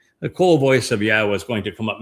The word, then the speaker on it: Yahweh: And haya tells us how to pronounce the Y, the Yod, and the two Hay's in Yahweh's name.